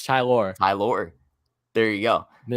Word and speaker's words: Tylor: war literally is it not is it not pronounced tyler no it's tylor hi lord there you go how is he